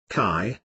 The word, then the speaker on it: chi: run through the body from head to toe chi pronounced chi or life energy flows through these meridians